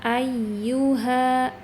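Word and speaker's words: أَيُّهَا: Nah, kalau bertemu ya yang ada tasdidnya harus ada nabr ya, ada tekanan. Tapi ingat tekanannya dia tidak dihentakkan terlalu keras. Kita coba ya. Ayyuha ya ayyuha ya ayyu ayyu ya.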